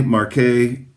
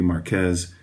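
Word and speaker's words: Marqués de Murrieta: Again, you could say Marquet. I'm guessing that might be more close to the French pronunciation, even though, strictly speaking, from a Spanish language perspective, this would be Marquez or Marquez.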